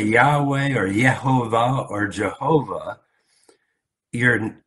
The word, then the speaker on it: Yahweh: it a certain way, people even disagree on how to pronounce it. But the meaning seems clear. Even scholars, and the majority of scholars, would say Yahweh. Yahweh is probably the best translation.